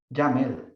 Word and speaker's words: YAML: Y se pronuncia YAML, como en camel, para saberlo.